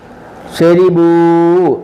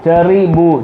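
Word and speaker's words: شَرِبُوا: കതബൂ കതബൂ ജഅലൂ, ഫഅലൂ കതബൂ ജഅലൂ, ഫഅലൂ കതബൂ ജഅലൂ, ളറബൂ അലിമൂ ശരിബൂ. അല്ല ഷരി ഷറി ഷറി എന്ന് എഴുതിയേക്കുന്നത് പറയേണ്ടത് ശരി. ഷരി എഴുതിയേക്കുന്ന റീന്നും പറയേണ്ടത് രീന്നും. റായിന് കെസർ വരുമ്പോൾ രീ എന്നുള്ള ഉച്ചാരണം ആവേണ്ടത്. ശരിബൂ ചെറിബൂ ചെറിബൂ എന്ന് എഴുതിയേക്കുന്നത്, അങ്ങനെ പറയത്തില്ല.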